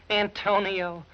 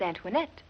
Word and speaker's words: Antoinette: for you yeah yeah he kept saying Antonio I need you an Tonio who is that paint that you my name is Antoinette oh that's what he said no he pronounces very bad when he's delirious we thought you might